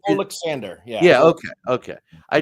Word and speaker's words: Oleksandr: first name it s it looks like olander but just Alexander yeah yeah okay okay